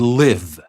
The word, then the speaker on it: live: l i v and by the way this live is different from live when we talk about shows on TV that are live the word is spelled the same but is pronounced in a different way live when we say